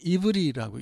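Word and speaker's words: עברי: 구역 성경에 나오는 히브인데 히브리라는 이름은 사실은이 히브리 말로는 이브리라고 읽습니다. 이브리.이 이브리라는 단어는 아바르에서 왔어요.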